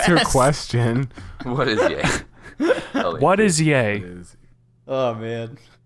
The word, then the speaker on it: Ye: It's yay.